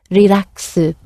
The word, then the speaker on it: リラックス: We came across this word, relax, which is an English word, slightly elongated to fit Japanese pronunciation, relaxu or shimasu.